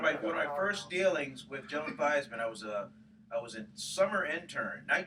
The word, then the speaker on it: Theismann: Joe was at Notre Dame, he changed the pronunciation to For Theismann Heisman. to rhyme with Heisman.